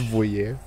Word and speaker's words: voyeur: It's pronounced voyeur.